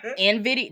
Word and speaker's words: Nvidia: where is it what Nvidia and video that's what is that's how you say it yeah what you you